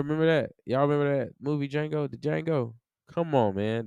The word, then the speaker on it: Django: that movie Jango the Django come on man the D is silent so you know 25